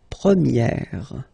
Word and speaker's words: première: And then for the feminine form, you will get première, okay? So it's open, this E sound.